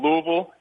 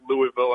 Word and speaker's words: Louisville: bit at is to wait for a Yankee to come down here and pronounce it Louisville and just to kind of stab you and say hey it's it's Louisville and I've kind of taught myself to have that like gargle in the back of my throat whenever I'm pronouncing it just to not piss him off but um yeah